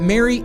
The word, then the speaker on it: Mari: kind of getting confused on pronouncing mari or mary but it's definitely mary being that it's a marionette which again is the proper name for this specific type of puppet which makes sense on